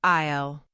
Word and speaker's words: aisle: Aisle. Pronounced like aisle.